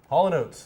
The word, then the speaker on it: Haulin' Oats: Haulin. Hollin? As in you are hauling a car, and oats. Haulin' Oats.